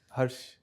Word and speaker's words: Herrsh: Herrsh, Yes, how do you pronounce it? Herrsh.